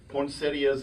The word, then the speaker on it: poinsettia: There's poinsettias everywhere.